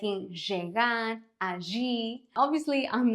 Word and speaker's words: allí: In most Spanish-speaking countries, the double L is pronounced as the Y in the word yes. Yes, lluvia, allí, but also depends on where Spanish is spoken.